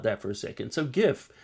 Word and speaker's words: GIF: for a second so gif as I like to call it because it stands for graphics interchange format and graphics is a hard G you don't say Geoff fix and a change format